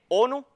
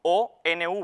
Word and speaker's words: ONU: una palabra así pues tenemos ONU que se lee ONU y no O nuu verdad hasta aquí espero